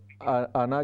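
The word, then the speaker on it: أنا: साथ लिखा हुआ है, तो ये अलिफ साइलेंट होगा वसल की हालत में, मिलाकर पढ़ने की हालत में। कुल इन्नमा आना बशरुन, नून का सिर्फ ज़बर हम पढ़ेंगे, अलिफ नहीं पढ़ेंगे।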